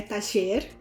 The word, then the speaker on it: taller: A pronúncia que eu uso é taller, existem outras pronúncias, a que eu uso é taller, e vamos ver em contexto.